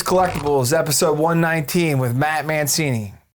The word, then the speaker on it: Mancine: Matthew Mancini. Is that pronunciation right?